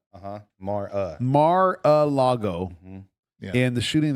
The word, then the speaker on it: Mar-a-Lago: Mar-a-Lago. How do you pronounce that? Mar-a-Lago. Mar-a-Lago. Mar-a? Mar-a. Uh-huh. Mar-a. Mar-a-Lago.